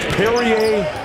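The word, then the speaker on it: Pierria: It's pronounced Perrier Henry, like the drink Perrier, because when his mother was pregnant with him, the story goes that somebody gave her a bottle of Perrier, and that might have induced labor.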